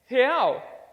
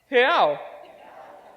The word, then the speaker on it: real: So on the count of 3, let's say he. So it's he, but without the e sound. So 1, 2, 3, he. Perfect. And now let's say ow. It's like ouch, but without the ch sound. So it's ow. 1, 2, 3. Perfect. So he. Ow. He. Ow. He. Ow. Real. Real. Perfect.